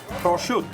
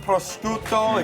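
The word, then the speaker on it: prosciutto: is the first word how do we pronounce this prut prut they got to say like that it's not pruto it's it's Pro next word is this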